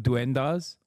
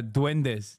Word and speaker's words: duendes: __ ] truth of dendas did I say it right when no one else would I'm sorry it was over for me okay uh duendes not dendas d that's right he